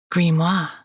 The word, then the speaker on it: grimoire: Nicolette breathed, grimoire, the proper French pronunciation. The British version sounded more, well, grim.